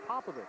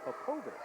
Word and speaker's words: Popovic: a lot of players a lot of media members have mispronounced Aaron's name over the years as Popovich but it is really APOBEC this is our first